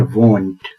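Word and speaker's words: won't: पर नहीं बोला जाता लोग बोलते हैं वंट आप मेरे उच्चारण पर ध्यान दीजिए वंट डब्लू ओ N upstroke will not का शॉर्ट फॉर्म है लोग सोचते हैं कि विल नॉट में तो डब्लू आई है वंट में डब्लू ओ है यह ओ कहां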